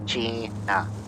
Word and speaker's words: Keqing: Uh Keqing.